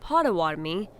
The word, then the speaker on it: Potawatomi: keepers of trade, and Bodewadmi, now pronounced Potawatomi, keepers of the fire. Anishinaabe lived on the Great Lakes, where some of the Potawatomi were forcibly removed from